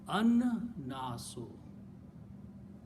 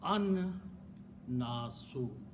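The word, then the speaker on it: النَّاسُ: So the word al and naso should be pronounced an-nasu. Sound of lam goes away.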